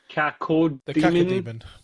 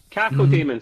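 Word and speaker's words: Cacodemon: Um, it's got a floating and I never name I never know how to pronounce this one in Demons. Code Demon. Cako Demon.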